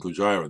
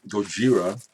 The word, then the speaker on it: Gojira: But this French metal band, Gojira, their new album, Fortitude, went ahead and picked it up.